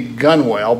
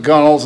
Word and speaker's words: gunwale: gum which is usually if it were pronounced phonetically it would be gunwale but the old salts called it gunnels and that's what i'm